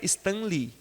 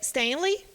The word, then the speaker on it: Stan Lee: assim só a gente só ajustar a pronúncia do senha né é as duas únicas ou uma mais forte com outra é Sem Lei ou se tem lê são dois nomes tendo separado lhe então